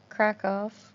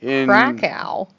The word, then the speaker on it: Kraków: Poland, and I think Kraków is. Oh my God, pick one. I know. I'm sorry. I can't. Now that I know it's pronounced one way, and I can't go back to being like Cracow, because then I just feel You weird.